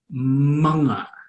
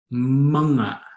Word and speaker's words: mga: The first word is pronounced manga, manga, manga. It's a bit counterintuitive. It doesn't follow any pronunciation rules, and that's why it's on our list, because it's a strange one.